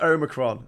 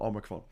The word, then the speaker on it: omicron: nineteen i can't remember we'll know that it's pronounced omicron okay i'm i'm saying omicron o h like not omicron um uh yes uh